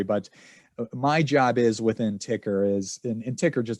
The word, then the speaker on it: Tykr: that leads to a platform i created called ticker it's spelled t-y-k-r and it's it's think of it